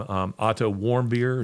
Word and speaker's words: Otto Warmbier: I mean, we have the case of, I don't know how you say his last name, Otto Warmbier.